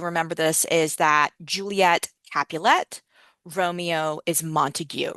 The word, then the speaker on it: Capulet: Um and so remember the way that you remember this is that Juliet Capulet, Romeo is Montigue, right? So Romeo ends in a vowel, Montigue ends in a vowel, Juliet rhymes with capulet.